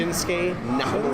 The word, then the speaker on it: Shinsuke Nakamura: Shinsuke Nakamura.